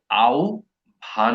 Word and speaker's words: আহ্বান: ঠিক আছে, হ যোগ ব এর যে উচ্চারণটা, হ যোগ ব, ওইটার উচ্চারণ হয় জিহ্বা। ঠিক আছে, যেমন আহ্বান, আমি আপনাকে আহ্বান করছি, আউ ভান করছি, ও আর ভ দিয়ে এটা রিপ্লেস হয়।